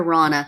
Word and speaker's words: Rana: I remember Rana because it rhymes with Donna.